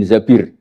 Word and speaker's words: Zabir: Kemudian saya nikah sama Abdurrahman bin Zabir. Di hadis ini bukan bacanya bukan Zubair, tapi zabir Abdurrahman bin Zabir.